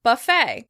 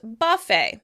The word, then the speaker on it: buffet: Buffet. In British English, the word would be pronounced buffet. Buffet, with stress on the first syllable.